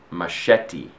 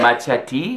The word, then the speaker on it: machete: Not machete? No. Or machete? Machete. Because I think I'm pretty sure it's a Mexican word. Yeah, it is. I think the actual pronunciation is machete. Wait. But we say machete.